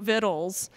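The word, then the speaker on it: victuals: Um if you all don't know her work, she wrote Vittles. Uh spelled v i c t u a l s. And she has a phonetic pronunciation on the cover.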